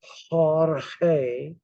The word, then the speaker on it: Jorge: I said what is Jorge g-o-r-g-e but you pronounce it as Jorge J and G are the same and you